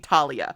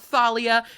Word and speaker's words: Talia: my book kopy mpom Talia it's not Thalia it's not melamine I